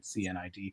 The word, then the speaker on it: cnidarian: say C is for cnidarians um cnidarian starts with a silent c it's cnid uh but like business you're